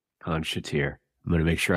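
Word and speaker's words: Khan Shatyr: So if you look up The Vampires, and it's featuring Chris Abrahams, and the track is called Khan Shater, which is spelt K-H-A-N-S-H-A-T-Y-R. Khan Shater. Khan Shater.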